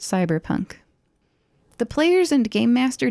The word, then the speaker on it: CBR+PNK: system CBR plus pnk which probably is pronounced cyber Punk the players and game